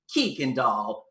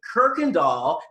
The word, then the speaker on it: Kurkendaal: name right you know they pronounced it kikin doll kookandal koikendoll kukendo and when i would correct them and say kirkendall they would go it's not kirkendall there's no r it's kirkendall even my